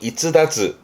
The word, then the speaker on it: 逸脱: 그래서 발음이 이즈다즈.